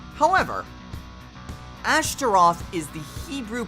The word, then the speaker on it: Ashtaroth: not me starting and you'd be right however Ashtaroth is the hebrew pronunciation a starting and the name itself can